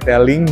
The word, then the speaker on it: Tailg: Taing dibacanya telling kalau di Cinanya telling ini salah satu produk unit andalan dari telling untuk sepeda listrik dengan kapasitas 1000 watt.